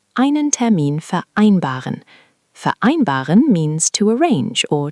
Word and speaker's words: vereinbaren: The V sounds like an F there, which you did well.